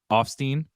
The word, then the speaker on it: Offstein: Offstein, correct?